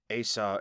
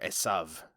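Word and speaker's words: Esau: Abraham Isaac and then asau and Jacob or esav and Jacob depending on your pronunciation so there we have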